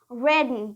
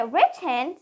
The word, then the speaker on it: written: are buttons so written written don't say Rich hand say written written I have written my